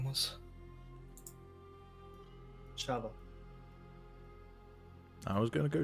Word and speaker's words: Shava: Shava. I was going to go check, but you got it. I'd forgotten. What was that again? Sorry, I'm finally making notes. Shava? Shava.